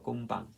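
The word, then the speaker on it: 금방: Kum Kum pang no kumpang pagpronounce dito guys yung letter m natin dito since consonant ito followed by Uh a consonant letter B so mangyari Ito po ay ma- pronounce as initial letter P kumpang kumpang So ganyan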